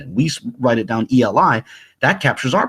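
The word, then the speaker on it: אֵלִי: And it begs the question, why did this ancient source render it Eli instead of alaya? Well, let's just exactly the way we would say it's pronounced.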